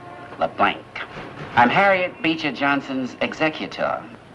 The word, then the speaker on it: LeBlanc: That's a capital L, small e, capital B, small L, A-N, and a hard C. LeBlanc.